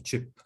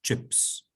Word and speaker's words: chip: que se escribe así, chip. O los microchips de los computadores, chips. Y la pronunciación es distinta. Barato es cheap y papita es chip. Chip and cheap.